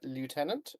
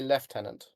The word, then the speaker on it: lieutenant: Uh if you're American, you will say lieutenant. If you are English, you will say left tenant.